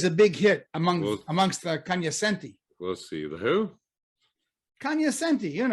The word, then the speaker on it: cognoscenti: That's always a big hit amongst the Kanyasenti. We'll see. The who? Kanyasenti, you know, the people in the know. Oh, you mean the cognoscenti? Rick, the Kanyasenti say Kanyasenti and not cognoscenti.